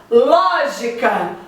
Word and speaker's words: lógica: Lógica. Ló é a sílaba tônica.